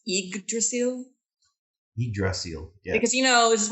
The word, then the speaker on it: Yggdrasil: I think we discussed how to pronounce the name of the ship. It's Yggdrasil.